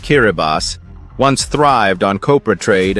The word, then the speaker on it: Kiribati: Scattered across 33 atolls in the Central Pacific, Kiribati, pronounced Kiribati, once thrived on copra trade and fishing in remote lagoons.